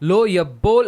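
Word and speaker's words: לֹא יִבּוֹל: तो इसका उच्चारण बदलेगा। லோ எப்போல் அப்படினு சொல்லி வரும். लो यब्बोल ऐसा आएगा।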